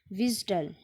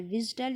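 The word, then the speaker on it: WSDL: करता है य और इसके बाद pronounce विडल and spell out डब्लू एसडी एल विडल इसको आप पढ़ सकते हैं या डब्लू एस डील और मैं जिसको मोस्टली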